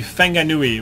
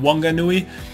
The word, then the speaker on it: Whanganui: good so for example the wh he's actually pronounced f so so you know that would be feng a Nui rather than Whanganui there is obviously some older white New Zealander